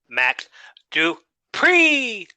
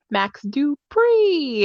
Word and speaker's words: Max Dupree: max dupree and he hey hey hey no max do pre okay you gotta say it right you gotta say it right max dupree there you go much better and he's a